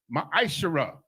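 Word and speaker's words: מעשר: Means 10th in the Hebrew and is pronounced ma'ashara.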